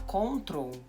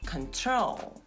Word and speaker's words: control: Nós estamos aqui duas sílabas: con-trol e o acento vai ser na segunda. Então em vez de você falar "cóntrol", vai ser "contrôl" e o som do ó é esse daqui do "Schwa". É um som muito comum em inglês, tá? É o som, na verdade, mais comum em inglês, é um som que a gente não tem em português, que é um "Hã"... É o "con", "control". "Control".